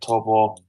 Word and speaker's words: Taupo: Nah, it was a great opening round at Taupo, which is how you pronounce it, by the way.